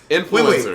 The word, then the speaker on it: influencer: Influencers. Wait. I can't tell. Okay, we need to stop. When I think of the word influence, I say influence, not influence. Influence. My accent is on in.